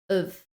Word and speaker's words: of: So notice that the of is pronounced of, middle of the woods.